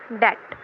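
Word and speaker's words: debt: words as और एक डेट यह डेप्ट नहीं है य ट है इसमें बी साइलेंट होता है ठीक है नेक्स्ट वल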